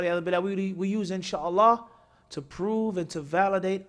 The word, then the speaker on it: in sha Allah: person says now I'm insha'Allah different story and also how you say it say in sha Allah or you say hello Charla I understand it's a